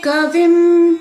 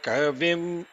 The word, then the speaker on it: kavim: It should be all anudatas. So it's Havamahe Kavim. No. Havamahe kavim. Havamahe kavim. Only vim is going back to the medium, the udattam.